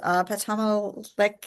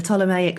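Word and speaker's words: Ptolemaic: I should have I should have known that the the P is silent.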